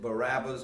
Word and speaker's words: Barabbas: Barabbas, and some people pronounce it Barabbas, but Barabbas means son of a father.